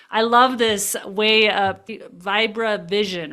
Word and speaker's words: Vibravision: I love this way of vira vision, right? Is that how you say it? Viro vision.